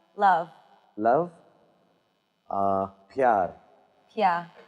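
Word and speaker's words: प्यार: Uh pyar.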